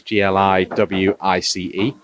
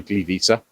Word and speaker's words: Gliwice: It's called GTW Gliwice, which is Gliwice. Obviously, W in Polish is pronounced V, so Gliwice.